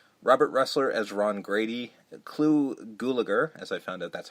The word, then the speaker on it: Clu Gulager: Clu Gulager, as I found out that's how you pronounce it.